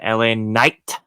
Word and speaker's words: LA Knight: for the US Championship we had La Knight that's that's that's how you say it without drinking haterade and having it in your system um versus Andre and